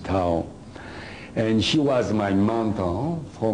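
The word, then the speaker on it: Thao: T-H-I-O. Tao. That's her name. You can pronounce whatever you want, but I pronounce it Tao.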